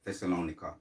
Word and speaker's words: Thessalonica: Thessalonica.